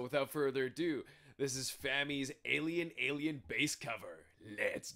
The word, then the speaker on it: Fami: in the comments that they were hearing it was rhymed with Tommy but then they saw a video from her own channel that she pronounced it rhyming with Tammy so Fami it is please correct